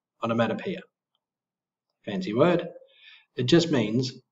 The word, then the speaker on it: onomatopoeia: You can use onomatopoeia, pronounced on, mat, p, onomatopoeia.